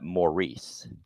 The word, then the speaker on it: Morris: Morris Austin, and note that Americans would call that Maurice. That's how they pronounced it.